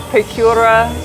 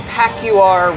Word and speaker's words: Pacuare: we woke up at the cabins on the Pacuare River? Was that yesterday morning? I believe it was. Wow. Wow. It was yesterday morning. Okay, I did discover that I've been saying Pacuare wrong. It's the Pacuare.